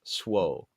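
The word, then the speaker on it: Zwolle: Yeah, we have a city that is pronounced. If you're English, it's pronounced Swole.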